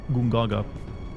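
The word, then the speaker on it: Gongaga: Gaga uh that's actually I think it's like gungaga it sounds like caveman speak that's how you pronounce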